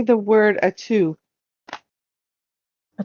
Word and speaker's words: Atu: Say the word atu. A 2? Atu. Tight. Gesundheit. How do you spell that? A-T-U. Atu. A 2. Like hat 2.